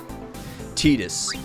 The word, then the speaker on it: Tidus: Tetus. That's how it's pronounced.